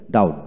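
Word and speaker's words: doubt: তারপর আসেন ডাউট, ডিউ ইউ বিটি, ডাউট, বি উচ্চারিত হবে ডাউট, ডিএইউটি, ডাউট ডাউট, এবার বলবেন।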